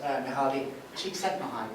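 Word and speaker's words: Mihály Csíkszentmihályi: The most compelling sort of description of it I've come across is this, I think it's Hungarian, Eastern European, psychologist, Mihaly Csikszentmihalyi is apparently how you pronounce his name.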